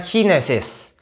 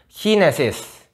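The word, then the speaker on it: Chinesisch: Bacanya Chinesis. Chinesis.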